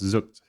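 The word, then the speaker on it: Zoekt: Roughly as you would pronounce zooked.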